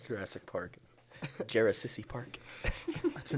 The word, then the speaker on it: Jurassic Park: Jarasissy Park. I don't understand. Yeah, it's Jurassic Park.